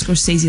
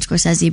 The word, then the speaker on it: Scorsese: Tell me how to say his name properly, because I've been saying it wrong. But Scorsese. Martin Scorsese. Scorsese, not Scorsese. Scorsese. Yeah, people say a lot of things, but it's Scorsese.